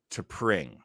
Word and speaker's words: T'Pring: And then we meet his mate, and she is, of course, T'Pring. Rhymes with SCHWING.